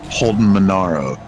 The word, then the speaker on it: Holden Monaro: So what I meant to say was Holden Monaro.